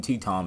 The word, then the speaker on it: Tatum: Now, speaking of movies, X-Men movie spinoff Gambit, starring Channing Tatum, and that's how you pronounce his last name, is set for release October 7th next year.